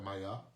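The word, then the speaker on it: Maya: Mayá, aí a pronúncia correta é Mayá.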